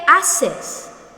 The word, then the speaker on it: haces: ¿Qué haces? What are you doing? So again, please be reminded that the H here should be silent. You don't say ¿Qué haces?